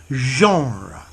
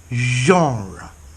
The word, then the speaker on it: genre: hi there students genre genre listen to the pronunciation genre ok Aurora is a kind a